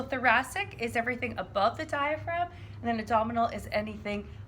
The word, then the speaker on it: diaphragm: first is a diaphragm there's that silent g so make sure you spell that correctly diaphragm and again the diagram